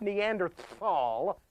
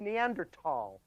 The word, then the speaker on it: Neanderthal: The first one is the mispronunciation of the word Neanderthal. The word, folks, is not Neanderthal, not Neanderthal at all. It's Neanderthal.